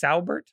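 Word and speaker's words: Saubert: name on the Niners Eric sabert sabert it's sabert I pronunciation I was just looking at I was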